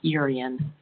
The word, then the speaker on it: Yerin: And his name, it's pronounced Urian, Thank you.